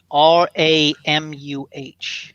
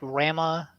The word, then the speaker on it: Ramuh: I think it's Ramu. Ramu? Okay. Yeah. I've always pronounced the names of all the summons terribly since I was a kid, so... I know Ifrit, Shiva, Leviathan. I always thought just Rama.